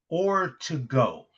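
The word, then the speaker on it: Ortego: She told me, "Think of or to go like a dine in or dine out.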